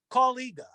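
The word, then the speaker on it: Kaw-Liga: what and i go colleague and he goes spell it and i'm like k k-a-w-l-i-g-a goes that's collider you and i'm like oh you know it's not pronounced how it's spelled so oh man thankfully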